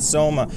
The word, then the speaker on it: SOMA: welcome back to Coma. Rhymes with SOMA.